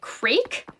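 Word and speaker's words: Crayk: I've always pronounced it Crake. That's correct, yeah.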